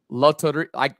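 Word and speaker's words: Lotería: Pronounce it again. Loteria. You're gonna ask I'm the white guy in the family to say. If you're playing it, you gotta no excuses. Loteria.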